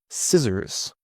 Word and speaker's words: scissors: Now, for the silent C. This often happens before the letter K or in some SC words.